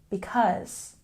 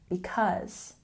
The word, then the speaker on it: because: reason for something and we stress the second syllable in because because practice once again because good for example she